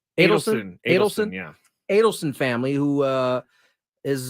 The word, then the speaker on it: Adelson: He is selling a huge portion, a majority, and it's in advanced discussions to the how do you pronounce this? Is it I believe Adelson? it's Adelson, yeah.